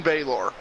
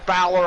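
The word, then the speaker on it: Bálor: Bloody Sunday from Finn bayor yeah or Balor I guess is technically how it's supposed to be pronounced but Balor yeah I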